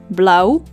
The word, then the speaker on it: blauw: short a a o as in the word blow which means blue in Dutch Blau ow as in the